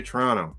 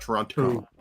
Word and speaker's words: Toronto: said in toronto say toronto not toronto yeah the only time the only time you pronounce the second t is if you're saying torontonian you know correct you